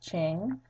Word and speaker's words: Qing: I know it doesn't look like it would be pronounced Qing, but Manchus found the Qing Dynasty. That Q gets the ch sound.